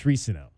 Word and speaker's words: Risano: They've been mispronouncing his name all his life. So now we know it's Risano.